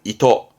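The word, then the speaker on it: 意図: 발음은 이토.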